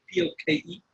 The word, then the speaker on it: poke: It's spelled poke, P-O-K-E, but it's pronounced poke.